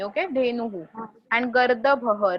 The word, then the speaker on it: धेनुः: यस, धेनु के बाद हु बोलना है, सिर्फ ह नहीं. ओके, धेनुहु एंड गर्दभः र वहां पे प्रोनाउंस करना है.